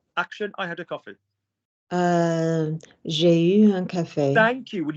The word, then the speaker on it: j'ai eu: J'ai eu. Thank you. I tell you every week, people. U is not pronounced U there.